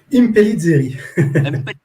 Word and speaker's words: Impellizzari: Ce soir, dans ce live, on est avec Antonio Impellizzari. Je prononce bien? Impellizzari.